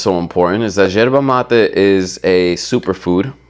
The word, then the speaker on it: yerba mate: With a Argentine accent, it's yerba, but super American or English, you would say yerba, right? YERBA, yerba mate. Boom. You'll never hear me say it like that again. It's yerba mate, okay? I want you to say it correctly too. Enhance your culture. Speak the way that it's supposed to sound, okay?